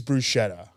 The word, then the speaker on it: bruschetta: that's that because like the American way to say it is bruschetta sure so is brusketta not okay is that prote